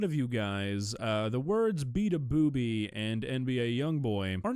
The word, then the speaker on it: Beabadoobee: Okay, so I'm aware that to a lot of you guys, the words Beabadoobee and NBA YoungBoy are not gonna mean a whole lot.